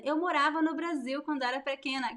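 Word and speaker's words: Brasil: with the letter S although the pronunciation is also a very zi strong Z sound Brazil Brazil but I write it with as the s sounds like Z between two vowels in Portuguese with boom where else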